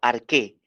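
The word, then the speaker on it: ἀρχή: la palabra al principio en el griego es arqué se escribe así en el griego a r J E arg o se pronuncia arqué principio significa eternidad principio con antelación pasado tiempo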